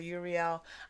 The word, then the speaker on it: Uriel: quick note i know some people say uriel i say urial it's it's just how i've been guided to pronounce um the name and that's what i